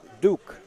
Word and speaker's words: Duc: right below and uh that duc name he's actually pronounced duke and one of the